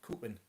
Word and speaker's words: Cowpen: example where we are, you've got Coopin, which is spelled Cowpen.